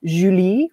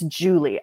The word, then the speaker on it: Julie: be either in if it's in french it's a nice julie which i love um in danish it's more like yulia but in american english it's julie i've got this nice and then ooh and then lee so i don't really have any exciting trip thongs or anything in my name it's just two little syllables if i'm not careful